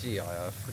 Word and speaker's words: GIF: I'm pretty sure it's GIF. How do you How do you say? Pretty sure it's a gift. Gift. Gift. Gift. Gift. Don't say gift. It's gift without a T.